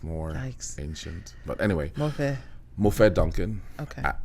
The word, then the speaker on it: Mofe: So it's pronounced Mofe, which is Mo, like I've Mo been money.